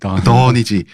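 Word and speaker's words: Dunn: D-O-N인데 발음상으로는 다 됐다. 던이지. 그러니까 다 됐다는 뜻도 되고 사실 이게 다 이루어졌다는 뜻도 되지만 턴에 떴어.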